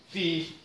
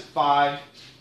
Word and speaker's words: phi: And I learned to pronounce it phi. A lot of people pronounce it phi. Very few people pronounce it pho or fum.